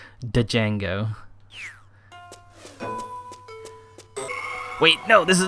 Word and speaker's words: Django: You know the name is pronounced Django, but you will forever mispronounce. Don't tell me you pronounce the D. Django.